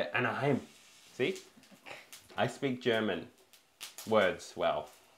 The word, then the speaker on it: Anaheim: I just assume Mickey attempted to pronounce Ahia chili. See, I got rid of more of the thing. Anaheim.